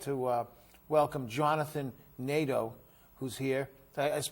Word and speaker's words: Nadeau: So without further ado, I'd like to welcome Jonathan Nadeau, who's here. I pronounced that right?